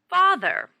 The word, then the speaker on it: father: your drug yeah ah ER no father far ther father please pay special attention to the sound hmm father how old